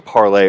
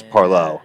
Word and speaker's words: Parleaux: we were saying parlay earlier, and people were like, "No, it's Parleaux." It's Yeah. Parleaux. Yeah. Yeah, Yeah. It's very broken French for by the water.